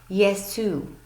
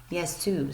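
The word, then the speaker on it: γεια σου: This is how you would spell it using the English alphabet, and it is pronounced Yesu. Yesu.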